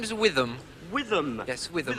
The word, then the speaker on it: Witham: hello my name is withm withm yes how do you spell that withm um w h i t h a m with ham Witham well thank you very